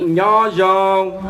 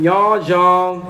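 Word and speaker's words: Nyob zoo: This is how you say hello in Hmong. Repeat after me, Nya Zhong. One more time, Nya Zhong.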